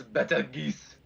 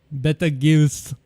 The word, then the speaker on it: Betelgeuse: I just saw how Beetlejuice is spelled. Like, I see what you mean. Yeah, That's yeah, it's a bit not Beetlejuice. different. That's Betelgeuse. Betelgeuse, yes. But yeah, when you really